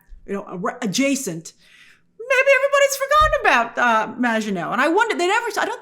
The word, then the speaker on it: Maginot: As we touched on in my non-spoiler review, Maginot refers to the Maginot Line, which I'm now pronouncing correctly, a term from World War II,